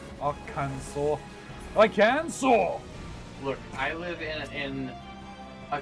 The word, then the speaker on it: Arkansas: But it's not spelled O-U-R, Kansas. Which pronounced should be pronounced. Arkansas.